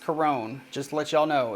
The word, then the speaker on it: Chiron: me on that but i know it's a greek name and it's an older name and it's properly pronounced corone anyways uh the reason